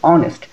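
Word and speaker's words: honest: করব এন ব্যবহার করব এখানে দেখো অনেস্ট এখানে আমরা হনেস্ট বলতেছি না বলতেছি অনেস্ট এইচ টা উচ্চারিত হচ্ছে না এখানে কি ব্যবহার করলাম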